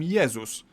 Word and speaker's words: Jezus: In Polish, we call him Jezus. But if we were to pronounce his name the English way, we'd write it down as Jesus.